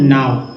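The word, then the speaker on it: know: लो, एन ओ डब्ल्यू नाव। अगर के एन ओ डब्ल्यू रहता तब उच्चारण क्या होता, क्या होता, कनाव, नो या नाव। दोस्तों इसका उच्चारण नो होता है, क्योंकि अंग्रेजों ने ऐसा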